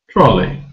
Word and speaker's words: trolley: in the word trolley the first syllable is stressed trolley we don't say trolley but trolley and we don't have equal stress where each syllable is the same like trolley trolley no the stress is on